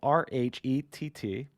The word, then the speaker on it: Rhett: have such a uh a cool name it's it's spelt r-h-e-t-t but you pronounce it rhett right what what's